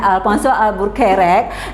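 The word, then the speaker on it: Afonso Albuquerque: Alpha soal buffered nah ini tulisnya Albuquerque ya Nah bacanya Alfan soal burack 1510 nah beliau ini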